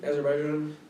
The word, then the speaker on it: Azerbaijan: the Azerbaijan that's how it's pronounced yeah um yeah I